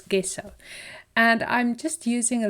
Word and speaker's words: gesso: people say it's pronounced gesso but I guess I am South African and we pronounced a hot G so for me it's gesso and I'm just using